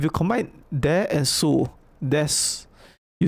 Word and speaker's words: です: Ocha des. Okay, why is it des? Why is it des? Well, you know this word is su, right? We learned it's su. But why don't you pronounce desu?